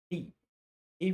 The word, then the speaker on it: the: let's move definite article the or you may you may pronounce this e e before Vel and the before cons the is use when